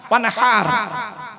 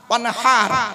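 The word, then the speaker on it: وَانْحَرْ: কাল কাউসার ফসল্লি লিরব্বিকা ওয়ানহার ওয়ানহার ওয়ানহার এই গলার ভেতর থেকে হে এটা উচ্চারণ করবে হাই হুতি হাই হাওয়াজ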